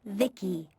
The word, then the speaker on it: Vici: transistors by the way i'm vici pronounced vicky my creator was vivisecto